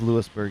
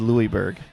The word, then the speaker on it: Lewisburg: a while though because it says Lewisburg and you almost said Louisberg of I I almost